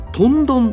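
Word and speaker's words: 豚丼: ですが、すき家はとん丼と読むんだそうです。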